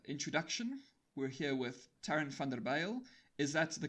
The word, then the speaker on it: van der Byl: I'm very English, so it's van der Bijl. But, you wouldn't be the first person to pronounce it like that.